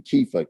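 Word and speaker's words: Kepha: Kefa is spelled K-E-P-H-A.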